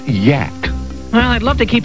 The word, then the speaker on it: Yak: original Yak actually the creature's name is pronounced Yak well I'd love to